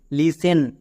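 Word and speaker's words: listen: এখানে দেখো টি আছে। এস এর পরে টি আছে। তার মানে কি? এস এর পরে টি থাকলে টি সাইলেন্ট। তাহলে এখানে টি এর উচ্চারণ করবো না। আর সবাই কিন্তু এখানেই ভুল করছো।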